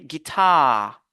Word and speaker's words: guitar: base sur cette syllabe on a guitare guitar on va pas dire guit non on va dire guitar guitar sur le deuxè mot aussi